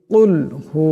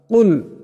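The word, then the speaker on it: قُلْ: রাজিম বিসমিল্লাহির রাহমানির রাহিম কুলহু আল্লাহু আহাদ কুল এখানে বড় কাফ আছে আওয়াজটা গলা থেকে আনতে হবে ছোট কাফ দিয়ে পড়লে কুল হবে আওয়াজটা শুদ্ধ হবে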